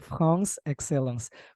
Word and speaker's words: France Excellence: Ya, jadi pronunciation-nya harus ala Prancis ya. Jadi France Excellence.